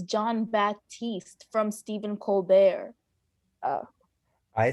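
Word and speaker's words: Jon Batiste: Mank, and also Trent Reznor, Atticus Ross, and John Baptiste, I apologize, in Soul. So I saw two of these movies. I think it's John Baptiste from Stephen Colbert.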